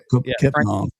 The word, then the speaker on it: Kepnang: So he's probably played against Diallo and how you pronounce his name? Kepnang.